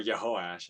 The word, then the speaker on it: Jehoash: I was trying to keep like the more closer to Hebrew with like the J's being replaced with the Y sound.